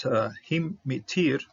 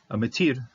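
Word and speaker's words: הִמְטִיר: This Shiva should be silent based on the rules, because when Shiva follows a short vowel, it shouldn't be pronounced. But to say this word, mitir, rain, I prefer to give a little punch to this one.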